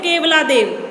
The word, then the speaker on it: केवलादेव: से कह सकते हो, हिंदी में इसको बोलते हैं केवलादेव, बट इंग्लिश में इसका थोड़ा सा उच्चारण थोड़ा सा अलग है, किएलाडियो गाना. तो इसके दो नाम है